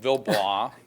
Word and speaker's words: Villebois: we came up with Bill blah the silent E folks okay and the village Village